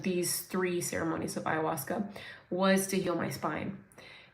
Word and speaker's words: ayahuasca: okay it's um yeah iasa like I've spelled it with the w too but it's a w a u h u a CA iwasa um I asked God